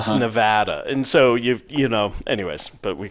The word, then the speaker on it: Nevada: We don't call it, it's Oregon. It's not Oregon, or it's Nevada.